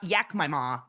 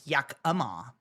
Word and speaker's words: Yakama: It's not Yakma, it's Yakama. Just a just any Yakama.